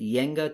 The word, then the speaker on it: Jenga: of our book and jenga i think you could pronounce it yenga too in the original language collapse occurs when we